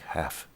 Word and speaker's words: have: It's pronounced more like half instead of have, but it's spelled have.